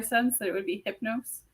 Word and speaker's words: Hypnos: hyp she she's great hypnos hypnos h y p n o s hypnos hypnose that's is how I'm pronouncing it from now I'm just doing